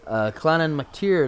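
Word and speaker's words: Clann Mactire: You can even check out this clan on ESO on Facebook under Clannan McTier. That's spelled CLANNMACTIRE, like tire, but it's actually pronounced tier.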